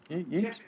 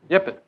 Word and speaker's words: Yipet: How do you say your last name? Yipes? Yipet. Yipet.